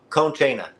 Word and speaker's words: Conchena: Am I pronouncing that right, Clinton? Conchena. It's Conchena. made up, so it really doesn't matter.